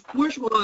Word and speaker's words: bourgeois: interesting question because um it's bourgeois it's like on the german burger it's it's urban urban